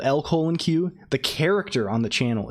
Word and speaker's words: LCOLONQ: it's quite simple really l-c-o-l-o-n-q is pronounced L colon Q oh geez like saying the letter L then colon and finally the letter q but I like to